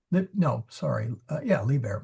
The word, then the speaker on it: liber: Uh liber means free and uh so liber with a short i is a book.